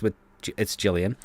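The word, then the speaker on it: Gillian: then get Jillian, and it's spelt like Gilligan, but it's Jillian.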